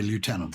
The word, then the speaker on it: lieutenant: And the idea, we think, is that someone misread the U for an F because the characters looked very similar centuries ago.